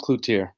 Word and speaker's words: Cloutier: name coach well it's it's pronounced cluer Clutier perfect that's that that